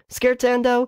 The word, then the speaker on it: Scherzando: it's probably worth noting how to actually spell skirts and oh is SCH ii are za and d oh